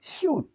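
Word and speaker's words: 시옷: এটির উচ্চারণ নিয়ে আমি খুব বিভ্রান্ত, কারণ এটি দুইটি উচ্চারণ হয়। আমি জাগিসুকের সময় বলছিলাম সারাম সারাম, সারাম সারাম। আমার এটা স, দন্ত স, স স দুটি উচ্চারণ করতে হয়েছে। আর মাঝ স্টপে দন্ত স হবে, আর এখানে নিচে ত।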